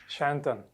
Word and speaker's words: Sayantan: How do you pronunciate it? Sayantan.